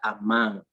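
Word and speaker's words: אמן: La palabra se pronuncia a mano en hebreo y su significado es rendirse, ser fiel, ser firme o fiel, confiar o creer, permanecer o estar quieto.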